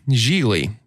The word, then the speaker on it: Gigli: anonymous a lowly thug geely rhymes with really is assigned to kidnap